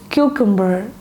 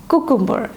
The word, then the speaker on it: cucumber: It is cucumber and not cucumber.